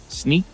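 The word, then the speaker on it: Snyk: Yeah, and you work for Snick? I am, yeah. That? It's always a problem pronouncing that one, so I know where it's Snick.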